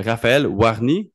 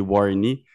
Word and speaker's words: Warny: Raphaël Warny, c'est le même que ça se prononce. Exactement. Parce qu'ici, on est fort avec les anglicismes. Là, j'ai failli t'appeler Warney.